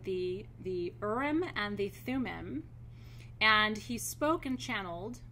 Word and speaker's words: Thummim: two energy streams and I'm gonna I'm gonna spell them and pronounce them for you the Orem you are I am and the Thummim okay Thu mmm I am these energy streams are